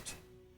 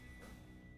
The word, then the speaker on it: Vertin: But they were worshipping a god that went by the name of Vertin, not Verna.